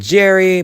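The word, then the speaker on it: Tjerry: One of the secondary characters at the Slender Man is named Jerry, but has a T in front of the J, and the T is silent, so it still spells out Jerry.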